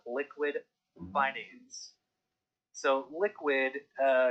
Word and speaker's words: Liqwid: in the wing is called liquid binance so liquid uh it's spelled l-i-q-w-i-d they launched their road map and